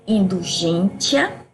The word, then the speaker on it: indulgentia: Que ela se origina do latim com a pronúncia indulgentia, certo?